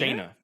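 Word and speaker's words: Jayna: Jaina. Jaina. Yeah. Jaina.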